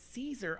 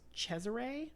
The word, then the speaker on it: Cesare: of the names, so I didn't realize it was Caesar. I thought it was Cesare.